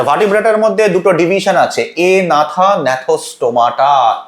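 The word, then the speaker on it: Agnatha: আচ্ছা, ভার্টিব্রেটের মধ্যে দুটো ডিভিশন আছে, এ নাথা, ন্যাথোস্টোমাটা। এ নাথা আছে, অনেকে ভুল করে একনাথা বলে, জিটা সাইলেন্ট।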